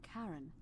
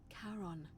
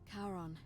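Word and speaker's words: Charon: is a little off the name you heard wasn't Karen it was c h a r o n as in karon the Fairman of the Dead yep karon who in exchange for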